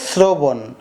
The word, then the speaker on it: শ্রবণ: শ্রবণ আছে কিন্তু তালব্যস কিন্তু উচ্চারণ হয়েছে শ্রবণ স এর মত হয়েছে আর স এর মত